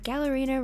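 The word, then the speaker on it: Galerina: Its scientific name is Gallerina marginata, and Gallerina rhymes with ballerina, and that's the first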